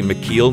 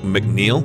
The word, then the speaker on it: McKeil: capacity is 15,964 cubic M I may have pronounced the name incorrectly before it's actually mckel not mcneel I've heard several people say mcneel as well